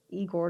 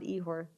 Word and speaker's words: Igor: mispronouncing your first name it's igor not ihor i apologize for that